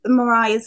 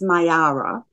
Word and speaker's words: Mayara: All of Mariah's links, I say Mariah, she did show me how to say it. It's Mayara.